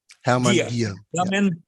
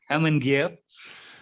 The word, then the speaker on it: Hermann Gier: I'd love to introduce Hermann Gier. How would I pronounce that? Hermann Gier. Hermann Gier.